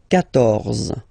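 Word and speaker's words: quatorze: Then here, 14. So remember, Q and U here, well, basically you've got to put this U vowel, because that's the rule in French, even if you don't pronounce it, okay? So you will get the sound K here.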